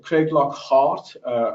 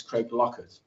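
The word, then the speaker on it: Craiglockhart: business school is housed Craig Lockhart as people also United Kingdom called them what we call it reg locket in Scotland the pronunciation of Craig block hard is Craig locket I remember when I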